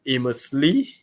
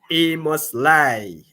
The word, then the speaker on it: Amos Lai: to the family of Amos Lee from Amos Lai. Gotta get that pronunciation right.